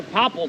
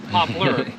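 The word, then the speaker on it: poplar: whatever comes up yeah those are Popple trees where moners would say they can't pronounce the last syllable popler ah you guys don't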